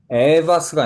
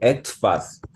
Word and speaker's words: etwas: Etwas, 에바스가 아니고 etwas etwas 음, zu essen ausgewählt?